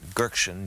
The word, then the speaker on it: Göksin: It's pronounced Sipa, and his name is Göksin, G-O-K-S-I-N, Sipokoglu.